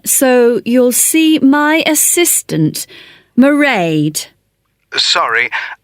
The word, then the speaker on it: Mairead: be working then so you'll see my assistant Mairead sorry how do you spell that it's M AI e a d Mairead okay got that it's not a name I'm